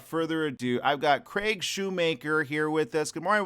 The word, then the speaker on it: Shoemaker: I have these people say, our favorite comedian, Craig Shoemaker. Oh, no. Oh, no. It's spelled Shoemaker. You make shoes. You don't mock shoes unless they're Crocs.